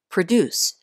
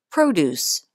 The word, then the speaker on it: produce: was used to produce notice that the second syllable is stressed here produce the last word in the sentence is a noun and it's pronounced produce it means fresh fruits